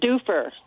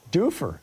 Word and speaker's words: Dufur: f u r Do How do you say that, Ronnie? That's right. In order It's Dufer. Dufer.